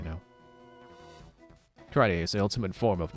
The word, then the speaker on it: karate: But no, it is karate, because it's a Japanese word, and there's only one way to pronounce each vowel. Ka-ra-te. E is always eh, so yeah.